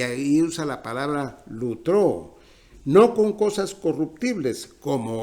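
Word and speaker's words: λυτρόω: Y la tercera palabra es lutró. Algunos pronuncian litró.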